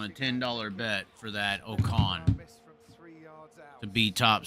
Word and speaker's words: Ocon: Ocon, is that how you say it?